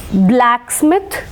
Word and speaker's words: blacksmith: അപ്പോൾ ആദ്യത്തെ ഈ 3 വേർഡ്സിനെ സംബന്ധിച്ചിടത്തോളം ഇവ 3 കോമ്പൗണ്ട് വേർഡ്സ് ആണെങ്കിലും we will mark stress on the first syllable. Blacksmith, football, bookshelf.